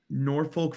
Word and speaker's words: Norfolk: we were in uh Norfolk Virginia I think it's pronounced norfol but that sounds kind of weird um we were in